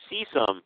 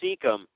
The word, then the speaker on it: cecum: Colon and cecum.